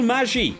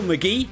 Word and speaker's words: McGee: I have called him I didn't know how to pronounce his name I thought it will Maggie or will uh Maggie uh like magic um it turns out his name is Will McGee uh he's a an